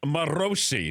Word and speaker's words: Morosi: It is pronounced Morosi, John Morosi.